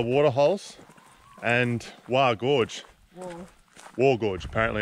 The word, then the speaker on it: Waa: uh Mill bulla water holes and wow Gorge War Gorge apparently it's pronounced so anyway get our walking shoes on